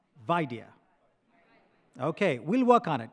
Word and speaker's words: Vaidya: Emphasize the first syllable. Vaidya.